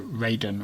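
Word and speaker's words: Raijin: planning the references to ray jin however the the japanese god of thunder and you know raiden which is the the more sort of western pronunciation um his involvement does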